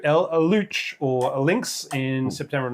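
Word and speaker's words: Luchs: Um Panza 2 Eluch or Lynx in September of 1939. I think it's pronounced like Luke, but anyway, you just go with in shrine.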